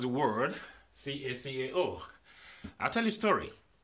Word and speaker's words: cacao: It is pronounced as Cacao. Cacao. That's the correct pronunciation. Cacao.